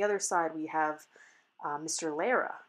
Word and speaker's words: Lara: okay so that's mr lara's attorney uh and the supreme court pronounces it lara and so even though his mr lara's attorney says laura there i'm gonna continue to say lara and then you'll hear